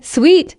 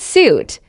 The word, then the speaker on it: suite: Sweet sw not suit.